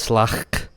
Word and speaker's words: Slak: Their name is Slak, like slack, but with a slight in there.